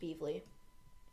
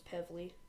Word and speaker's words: Pevely: I believe it's pronounced Peevely. I don't think it's Pevely.